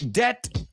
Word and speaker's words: debt: says uh uh uh debt rhymes with let all right that's